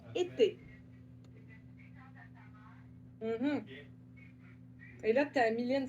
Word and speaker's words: été: Et être, c'est comme la saison, été.